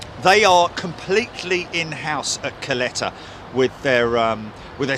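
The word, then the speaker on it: Kalitta: interesting also to note that it it is pronounced coletta isn't it not kalita at least that's the way they pronounce it over there even though it's spelt k-a-l-i-t-a but it is pronounced coletta who was it that mentioned it the other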